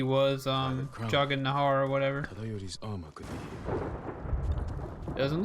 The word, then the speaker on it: Tadayori: Like I would have said Tadayori, but he said Tadayori. Like it was super fast. It's like there were no syllables in that.